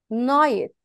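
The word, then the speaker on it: night: اي بنقول عليها ايه يعني ان اي ناي نايت نايت يعني الليل الليل يعني نايت نايت نايت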